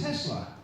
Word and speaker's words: Tesla: would need an abbreviation his name is simply Tesla it's a two- syllable word easy to pronounce so why didn't he